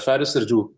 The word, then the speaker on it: Faris: but since you're Aman I'll tell you the OG pronunciation which is Faris Faris yeah I need like